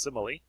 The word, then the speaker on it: simile: Almost looks like smile with an extra I, but it's pronounced simile.